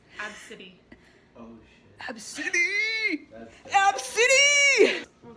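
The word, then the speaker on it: Abcde: How would you pronounce that? Abadka. It's Ab-City.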